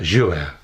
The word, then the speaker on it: Jouault: today I'm in the lovely Cottage of Sarah jouer yes I yes that was right right pronunciation it's like Renault Duo Renault it's French